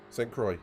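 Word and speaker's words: Sainte-Croix: So, Pedro, how do you pronounce this track properly? Say... Santa Croix. St. Croix, thank you very much.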